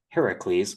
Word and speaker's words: Heracles: So I did this whole story about Apollo and Heracles, which is the proper pronunciation of his name, having to go rescue Poseidon from being captured.